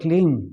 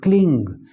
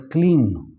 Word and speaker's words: Kleem: So now the word Kleem, which represents Kali Ma, because of pronunciation, let's say a lot of people who are from the east of India will call it Kling, Kling. That's how they pronounce it. But up north they pronounce it as Kleem.